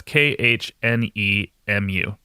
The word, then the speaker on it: Khnemu: That's Khnemu. How do you think spelling it's going to help me pronounce it?